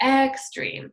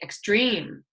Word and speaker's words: extreme: We don't say extreme, we say extreme.